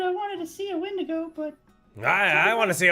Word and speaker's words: Wendigo: pronounced Wendigo.